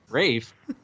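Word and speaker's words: Ralph: Rafe.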